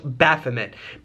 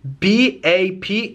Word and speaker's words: Baphomet: not my intent but i believe it is pronounced pronounced baphomet b-a-p-h-o-m-e-t baphomet and baphomet this